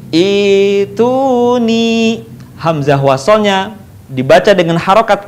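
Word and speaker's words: ائتوني: Tetapi Al-Ahqaf ayat 4 tidak dibaca u'tuni, tetapi dibaca ituni.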